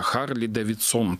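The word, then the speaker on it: Харли-Дэвидсон: он бы мог на Харлей Дэвидсон, на таком бренде раскрученном. Точнее, он назывался Харли Дэвидсон тогда. Это потом уже как бы, ударение перенеслось, транскрипцию да, сменили.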